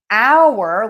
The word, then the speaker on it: hour: Hour, like this is our class, and hour, the time, we are going to pronounce those the same. Hour. Hour. We don't say the H on the time hour.